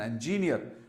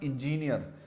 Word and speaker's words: engineer: elder brother is an engineer now remember this is not engineer this is engineer and is employed in